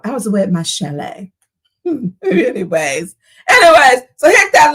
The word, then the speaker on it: chalet: That's not chalet. Like it's in the Swiss Alps. Like you know we we're going skiing. It's a chalet. So I was away at my chalet.